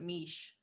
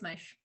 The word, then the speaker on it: Meisch: Everyone always pronounces it Mish, but it's Meisch.